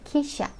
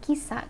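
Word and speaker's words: 記者: Lalu nomor 5 ada kisha, kisha, jadi bukan kisa, kisa beda ya, sa itu huruf sa yang tadi di awal kita belajar sasi suseso. Nah kalau ini dia sha, karena si tambah ya jadinya sha, kisha, reporter TV ya.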